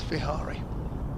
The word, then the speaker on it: Vihari: fielded via is that that's overseas player you pronounce Vihari. Vihari, is that right? Vihari? Yeah, I haven't. Yes, Vihari.